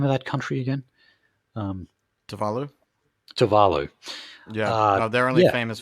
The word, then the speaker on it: Tuvalu: Tuvalu.